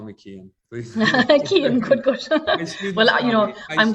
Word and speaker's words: Cian: Thank you, and please everybody call me Cian. Please. Cian, good. Well, I'm glad you pronounced it for the Americans on board.